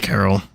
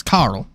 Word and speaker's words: Carl: You should be fine, and I'll deal with Carol. Carl. Fuck, I always say it wrong. It's Carl.